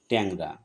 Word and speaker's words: ট্যাংরা: যেমন ট্যাংরা আমরা শব্দটি ট্যাংরা না বলি আমরা বলি ট্যাংরা। সঠিক উচ্চারণ ট্যাংরা।